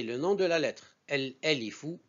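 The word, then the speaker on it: ألف: El-alifu, on dit el-alifu, c'est le nom de la lettre. On peut dire aussi elifun.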